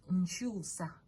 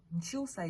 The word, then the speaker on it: nkyusa: Nswa, that's 1 syllable. Okay. NSWA. Yes. The next one is nchusa. Nchusa is NKYUSA.